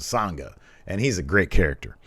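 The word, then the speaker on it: Sanga: Sangha. It sounds like you're singing something, because Sangha.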